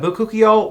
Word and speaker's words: bakuchiol: And bakuchiol, which people say it differently, but that's how I pronounce it.